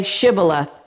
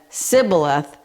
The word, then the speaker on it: Shibboleth: If he replied, "No," they said, "All right, say Shibboleth." If he said Sibboleth, because he could not pronounce the word correctly, they seized him and killed him at the fords of the Jordan.